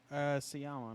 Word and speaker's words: Sciamma: Is it Sciamma or Siama? Sciamma, no, because they don't pronounce. Yeah, they don't pronounce their C's.